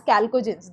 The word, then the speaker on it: chalcogens: H is silent, they are known as chalcogens, that is ore forming elements.